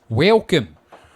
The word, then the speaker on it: Welkom: Welcome. That's spelled Welkom. Welcome.